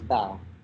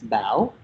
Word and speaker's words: Bao: say my name is Bao. When I think of my name in my brain, it's Bao, and it has that question mark sound, and that's a Vietnamese accent that completely changes the meaning of the word.